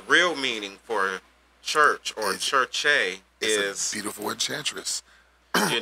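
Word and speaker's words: Circe: So, if you look here at the top, K-I-R-K-E, that's saying church-e. Church-e. If you look below, it's saying K-I-R-K-E, church-e. And then it's spelled C-I-R-C-E, that's still church-e.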